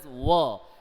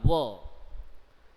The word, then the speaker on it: were: have to use w-e-r-e it is pronounced as wah and not where w-e-a-r it is where that means to wear something put on something and this one is whoa w-e-r-e whoa so let's see he